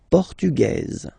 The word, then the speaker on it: portugaise: Le Portugal, Portugais, portugaise. Okay, so listen carefully. Portugais, portugaise. The only difference between the two, as usually when we'll have some, nationalities ending with AES, like that, and then the feminine form, as, okay?